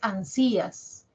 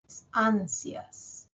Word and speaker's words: ansias: voz la tiene a no es ansías ansias as suena más la i es más cortita ya dura menos la i ansias cielo No